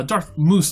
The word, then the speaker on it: Darth Mus: skywalker um no uh darth moose by the way m-u-s as you see in the title is latin from mouse yeah so so very different from what i was hearing yep um i'm just pronouncing latin correctly uh unlike we see